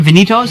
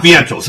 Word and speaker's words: Vientos: Vinitos? Mark Vientos.